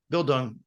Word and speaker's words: Bildung: I don't know how to pronounce this, like Bildung. Bildung.